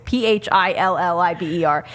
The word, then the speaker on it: Philibert: Yeah, it's Butch Philibert, and it's spelled like Punxsutawney Phil, which is the name of the groundhog. It's Philliber, and all it says is he's the Iceman.